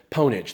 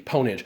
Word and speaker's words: Pwnage: course they call it ponage they actually pronounce the p ponage and that was all